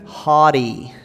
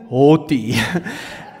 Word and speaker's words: haughty: With an American accent, haughty. With my Afrikaans English accent, haughty.